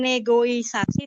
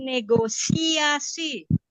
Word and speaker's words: negosiasi: teman-teman di sini itu mengucapkannya bukan negoisasi tapi negosiasi ya itu satu yang